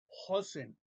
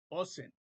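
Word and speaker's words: אוזן: Entonces, aquí dice O, sen, Hosen, Osen. No, es la letra Aleph es muda, entonces nada más se escucha la vocal y es Osen, pero es el acento en esta vocal.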